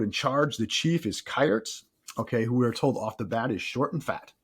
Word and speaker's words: Kayerts: So on the one hand, we have if I'm botching the pronunciation, Jared, correct me, but I go Kayerts. I said Kayerts. Yeah. Kayerts.